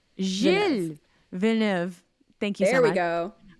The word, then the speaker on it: Gilles: It's a soft G, so it's Gilles. Gilles Villeneuve.